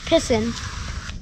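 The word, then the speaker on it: piscine: Pissin. Really? That's what it's called in French. No That's how kidding. you say swimming pool. I wonder if Mike knew that. What? I suppose Mike already knew that. Pissin.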